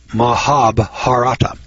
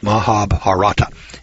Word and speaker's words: Mahabharata: text which is called thee now I can't pronounce this word but I'll spell Oprah Maha Mahabharata Mahabharata mah a.b har ATA are a nerve chiller